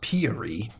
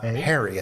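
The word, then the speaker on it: Peary: and beloved Source Wikipedia is pronounced Peery and not Perry as I always and Foster was the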